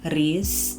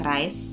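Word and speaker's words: Rhys: the way and also I know a lot of you pronounce it as re I pronounce it as rice because how else do you pronounce RH Y is there's no double e anyway I don't know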